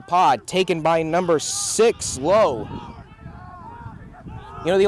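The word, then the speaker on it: Lowe: low you know the only problem with Low's name it's spelled lwe and if you recognize the Rays you know there's a low and a la so the question is which one is he pronounced is it low or La I'm choosing low for this one dancing number five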